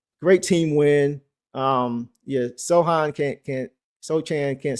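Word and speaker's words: Sochan: Everybody saying it's so hand or so. I'm gonna go with Sohan. Said pronounce the pretend the C isn't there. C is silent with Sohan.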